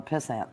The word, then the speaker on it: pissant: he was a real piss ant though very rarely stable yes you have to say it right pissing it pissant yes Emmanuel Kent was a